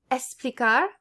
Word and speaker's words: explicar: It's pronounced like S if it's before a consonant. So explicar, extenso.